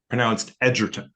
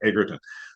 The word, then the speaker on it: Egerton: In fact, his name is supposed to be pronounced Egerton, but I have a problem with that. I keep saying Egerton.